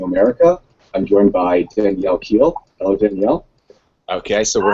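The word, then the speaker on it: Kehl: I'm joined by Danielle Keel hello Danielle Hi how are you doing go did I say the name right H it's actually pronounced like the vegetable kale but you know okay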